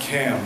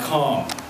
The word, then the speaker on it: Cam: Cam, pronounced Cam, not Calm, was my partner in Chem Lab.